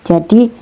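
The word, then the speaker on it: جَ: Ini cara bacanya ja. Kemudian ini za, nggak sama ya teman-teman, hurufnya beda, cara pengeluaran hurufnya juga beda melafalkannya ya. Ja, za, ja, za.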